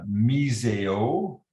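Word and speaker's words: μισέω: Et le mot ici en grec est miseo, M-I-S-E-O, miseo, c'est prononcé selon le dictionnaire que j'ai pris.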